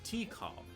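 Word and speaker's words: Tikal: ball right here uh and her name is t call T it's it's spelled t i k a l but it's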